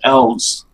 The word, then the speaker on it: ELS: you refer to as ele s as actually pronounced elves arrows is that just pack three that's correct